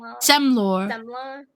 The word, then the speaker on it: Semla: Um, Selma or Semla. Semla. Seml is plural. So, semla.